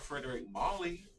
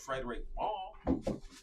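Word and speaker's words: Frédéric Malle: I'm like, no, we don't have Frederick Molly. We have Frederick Mall, you know?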